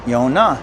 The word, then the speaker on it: Yona: John and Paulie bar last name pronounced Yona in the Cherokee language they were alive from